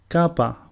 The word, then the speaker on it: Kappa: Kappa, which is pronounced Ku, and a sample word is Kipos, which means garden.